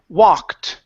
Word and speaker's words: walked: right let's go to the word walked instead of walked okay uh remove this e sound here the e d will be a t so she walked she